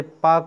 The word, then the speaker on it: Palk: भारत और श्रीलंका के बीच एक इम्पोर्टेंट खाड़ी है जिसे पाक की खाड़ी कहते हैं। PALK स्पेलिंग याद रखिएगा, PALK, ठीक है, PALK पाक की खाड़ी।